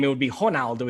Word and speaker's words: Ronaldo: name, it would be Ronaldo. In Portuguese, the R is pronounced like an H, but that's okay with the biggest star in the world to anglify it or whatever.